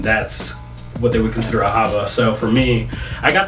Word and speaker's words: Ahava: like a Hebrew word Ahava is how they pronounced it in Jewish tradition but um the the